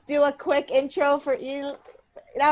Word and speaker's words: Eli: So it's spelled E-L-I because that's the beginning of Elijah. It's not E-L-L-E Eli. It's E-L-I Eli.